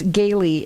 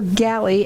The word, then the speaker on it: Gailey: go with my first guest, who is Chris Gailey. And Galley? Yep. I wrote it down just so I should say it, and I said it wrong. So that's the way it goes. So Galley, and he is with Four Seasons Home Services.